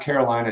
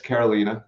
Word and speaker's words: Karolina: last name but now I know it's not Carolina it's Carolina so I'll make sure I get that right